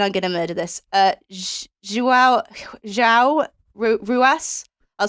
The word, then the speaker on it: João Ruas: It's probably pronounced something like Wow Ruas or something like that.